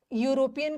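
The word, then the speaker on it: European: यहाँ पे यूरोपियन का उच्चारण क्या आ रहा है, यूरोपियन नहीं है, ई नहीं है, यू, यू, पहले तो उच्चारण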